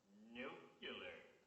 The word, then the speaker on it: nuclear: say nuclear it's nuclear there's not that extra syllable in there so a radioactive atom